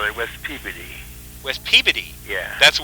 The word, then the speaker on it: Peabody: Yeah, where they call it West Peabody. West Peabody? Yeah. That's the way they pronounce it there?